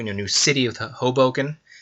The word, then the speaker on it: Hoboken: new new city of hoboken uh matt gets on me when i mispronounce that i think for the first few times i said hubblecan that's hilarious i think